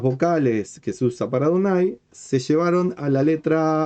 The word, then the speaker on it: Adonai: Pues para que el lector recordara que esa palabra se pronunciaba Adonai y no de otra forma.